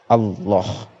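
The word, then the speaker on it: الله: tersebut lam jalalah jadi kita harus membacanya dengan Allah dengan tebal lam jalanan dibaca tafkhim tebal apabila lafadz Allah didahului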